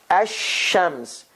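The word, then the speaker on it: الشمس: shadda on it hashems so what happened here lam goes away ash ashams and then we said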